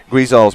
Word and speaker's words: Guizal: This is from Nick Guizal's mom, I'm sure. She said, so funny, Nick's last name is pronounced Guizal with G-U-I sounding like we with a G.